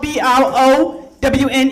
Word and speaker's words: Browne: last name right cuz it's spelled b r o w n e but the E is silent it's not pronounced blown I am not a brownie people it's just Brown all my life people people